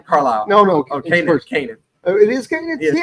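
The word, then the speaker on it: Kanaan: Kanan.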